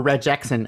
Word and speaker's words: Regexp: Well, the P is silent. It's still pronounced regex.